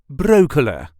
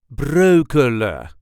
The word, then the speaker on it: Breukelen: Brooklyn this is the way us duchies say broa broa as you can hear I dro the N at the end of the word this is common broa there is also light emphasis on the first